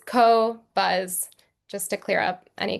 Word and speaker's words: Qobuz: everyone's fully clear uh how you pronounce cobbuzz because it's a weird name. I understand a we get so many different things. We get coz is is one we hear a lot. Um but it's co-buzz just to clear up any confusion.